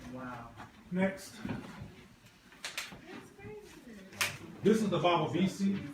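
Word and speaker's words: Bawavisi: How do you pronounce it again? Baba Visi, B-A-W-A-V-I-S-I.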